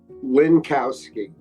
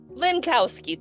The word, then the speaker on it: Linkowski: Can you pronounce it for me please? Lancowski. Lancowski.